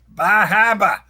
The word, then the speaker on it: Bar Harbor: Or as the locals say, Bahaba.